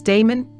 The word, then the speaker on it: Damon: The master that taught him music, most authors are agreed, was Damon, whose name, they say, ought to be pronounced with the first syllable short.